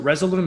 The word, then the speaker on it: Resolume: So we talked about, is it Resolume?